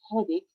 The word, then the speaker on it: headache: In this word هي the word stomach. Also CH makes a K sound as in cake.